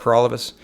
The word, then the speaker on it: Peralivas: My name is Peralivas. That rhymes with for all of us, and I'm the People's Party candidate for the Guelph riding.